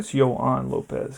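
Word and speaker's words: Yoan López: You probably Yoan Lopez because that's how you pronounce in Spanish.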